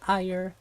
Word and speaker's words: Lyra: It's Ire. Like Ire. Some people say ear too. I mean, honestly, I'm somebody who's very much open to interpretation, so it's a made-up name, kinda. So I really don't feel like there's a right or wrong way to think about it. But I pronounce it like Ire shot.